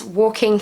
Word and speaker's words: Joaquin: And fourth, and maybe most importantly, I pronounce Joaquin Pheonix like walking. That is my accent. I am from New Zealand. I went on a date once and the guy said, it sounds like you're saying walking.